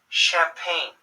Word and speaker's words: champagne: a chip sound - champagne French originating English words that usually have an SH sound chameleon scholar chemistry psychology